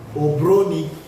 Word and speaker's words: obroni: And the account word for white man is called, people say obroni, obroni, obroni. The real pronounce is obroni.